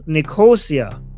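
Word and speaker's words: Nicosia: I forgot how to pronounce this. Nico Nikosia.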